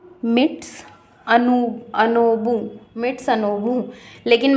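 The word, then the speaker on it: Mitsunobu: याद रखने में इ उसका नाम ही अजीब सा है मिट मिट सनबू तो मा मैं इसको माउंट माउंट आबू बोलती हूं माउंट आबू ऐसे थोड़ा सा याद रखने में इजी होता है स्पेलिंग में हमेशा याद रखती हूं एम आई टी एस यू एन ओ बी you midst अनब भी आप लोग याद रख सकते हैं माउंट बू भी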